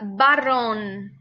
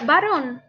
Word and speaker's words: varón: tenemos aquí la palabra barrón y aquí la palabra varón perciben como la pronunciación es igual pensar en cómo pronuncia igual barrón con la ub y varón con la b no experencia pronunciada barrón